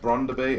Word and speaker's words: Brøndby: got brand to be i think it is pronounced bronder be as you can see